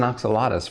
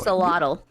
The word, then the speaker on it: axolotl: Axolotl. Oxalotl. I'm sorry. Yep. No, that's okay. It's a really tough word to pronounce. So an axolotl, it's pronounced ajolote in Spanish.